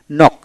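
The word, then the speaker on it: knock: তারপর আসেন কে সাইলেন্ট, যেটা কে এন ও ডাব্লু ন, ন মানে কে উচ্চারণ হবে না, এন ও ডাব্লু ন, ন। তারপরে নক, এন ও সি কে নক, এখানে কে উচ্চারিত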